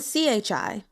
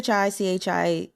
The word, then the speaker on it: chi: sure like shingen then Chi CH is going to be pronounced like we do in English as well CH like chair and the I so